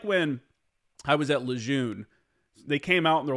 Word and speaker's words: Lejeune: a change, or like, it's actually pronounced Lejeune. It's John A. Lejeune. Someone started pronouncing his name incorrectly at some point and it caught on.